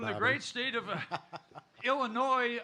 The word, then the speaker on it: Illinois: great state of Illinois, where the S is silent.